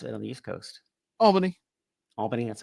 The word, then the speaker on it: Albany: Albany. Albany, that's how we are here. Yeah, but some people, like, really emphasis on the bunny part of the Albany.